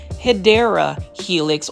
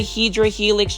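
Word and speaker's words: Hedera helix: I may end up just buying this um Hedra Helix or Hideera Helix, however you want to say it.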